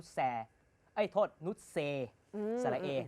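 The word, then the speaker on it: Noussair: ส พาด แก นะ แก ไม่ ออก เสียง นุ แซ ด้วย นะ ตอน ที่ ผม เคย เคย เคย สัมภาษณ์ เ บอก ว่า นุ เซ ออ เหรอ นุ เซ มาซา อุย อุย เลย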